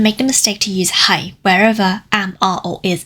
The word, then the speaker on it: 喺: This one, hai, is a rising tone. It's the mid-rising tone.